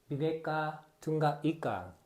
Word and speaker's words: Bhinneka Tunggal Ika: Bhinneka Tunggal Ika. Yes, Professor. Wow, the pronunciation is perfect.